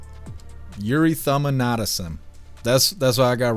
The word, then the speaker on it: erythema nodosum: And it's pronounced erythema nodosum. Erythema nodosum.